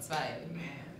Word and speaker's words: Zwei: It's Zwei, isn't it? I'm mispronouncing it. What I was. It's two? What's two? It's in Zwei. that Zwei. language of yours. Zwei. Yeah, alright, that's the way to say it.